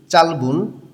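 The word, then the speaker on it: 짧은: চুল চালবুন ছোট, এখানে ডাবল ভাচ্ছিম আছে। নিয়ম অনুযায়ী প্রথম ভাচ্ছিমটা মূল শব্দের সঙ্গে থাকবে, পরের বিয়োগ ভাচ্ছিমটা ইয়ংয়ের স্থানে গিয়ে উচ্চারণ হবে।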